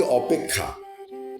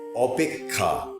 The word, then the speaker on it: অপেক্ষা: যেমন আমরা বলি অপেক্ষা, কিন্তু উচ্চারণটা হবে অপেক্ষা। অ পয়কার ক, অপেক ক্ষয়াকার, অপেক্ষা। উচ্চারণটা মনে রাখবেন। কৃতজ্ঞ, এটা প্রচলিত ভুল, বলতে হবে কৃতজ্ঞ।